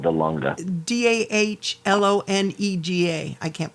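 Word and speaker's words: Dahlonega: no georgia georgia sorry she lives in florida the longa do you mean um oh that's called the lunga d-a-h-l-o-n-e-g-a i can't pronounce it but that's where she she wants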